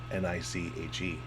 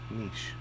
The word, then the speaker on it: niche: Niche. Niche. I've never heard anyone say niche. That's all I've heard people say. Really? Yeah. Niche. Niche. Like Nietzsche.